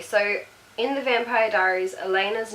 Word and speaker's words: Elena: See, okay, so in the Vampire Diaries, Elena's name is spelled E-L-E-N-A. To me, I would read that and say Eleanor, which is also pretty.